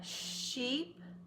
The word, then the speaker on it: sheep: ship onto the shore these two words are close but they're not the same many people want to pronounce these two the same it's sheep ship sheep ship that's a vowel lesson